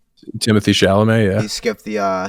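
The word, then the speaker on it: Chalamet: Pronounced that correctly. Timothy Shalamé.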